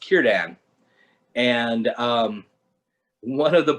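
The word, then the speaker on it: Círdan: there's a there's a name c-i-r-d-a-n and it's pronounced kiran and um one of the podcasters after being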